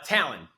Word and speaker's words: Tallon: bit of shop tal thanks so much for being on it how do you pronounce it uh Talon t a l o n like the eagle claw people are always like